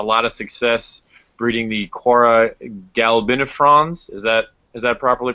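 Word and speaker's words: Cuora galbinifrons: Tony mentioned that you have had a lot of success breeding the Quora galbinifrons. Is that Is that properly pronounced?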